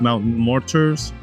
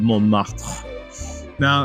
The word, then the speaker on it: Montmartre: of all to pronounce so in plain English it would actually sound like Mountain mortars but it's French you remove all the vowels and you get more now this place actually started